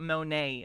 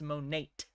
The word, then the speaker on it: Monat: I always want to call it Monae. It's not. It is Monate. The T is pronounced.